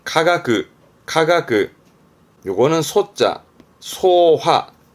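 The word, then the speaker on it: 化学: 발음은 카가그, 카가그.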